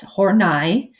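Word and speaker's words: Horney: last name looks like how it should be pronounced but its horn eye is a correct pronunciation so first is Adler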